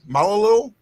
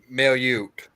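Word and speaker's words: Mailloux: Malalu? Mailute. Logan Mailute. Huh? Logan Mailute. Mailute. Okay. Mail you. Like mail you. Like mail you. And you.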